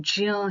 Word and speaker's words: ज्ञ: ये जो आगे लिखा है इसे ज्ञ बोलते हैं बहुत सारे लोग, वैसे इसका सही उच्चारण ज्य है, क्योंकि ये ज जमा